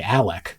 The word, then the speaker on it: Alec: Richard, who went by Alec, spelled like Alex, grew up under the umbrella of the Murdock name.